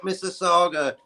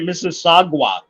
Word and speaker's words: Mississauga: Shout out Mississauga. Shout out Toronto. Really? And congratulations for pronouncing it correctly. His name Obama was up here once, and he was calling it Mississauga.